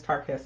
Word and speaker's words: Tarquez: so first of all the correct way to say my name is tarquez i get that all